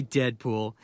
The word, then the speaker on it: Deadpool: Call me Deadpool. It rhymes with no school.